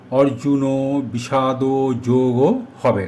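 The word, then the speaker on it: অর্জুনবিষাদযোগঃ: অর্জুন বিষাদ যোগ হবে না। অর্জুন বিষাদ যোগহ। শব্দটির শেষে বিসর্গ আছে। এখানে বিসর্গের উচ্চারণ হ এর মত হবে।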